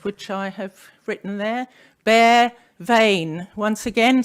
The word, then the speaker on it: Bea Veayn: bare vein the other one is how to pronounce it which I have written there bear vein once again say after me bear vain great probably more importantly with regard to a